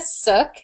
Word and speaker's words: Suk: As Rachel stated, my name is Suk, and it's pretty easy to remember because it rhymes with book.